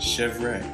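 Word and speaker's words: chèvre: make goat cheese and this goat cheese is pronounced chevre we're going to make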